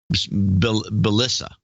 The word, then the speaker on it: Belisa: We're man and woman overboard, Bob and Belisa. Okay, pronounced like Melissa, but with a B.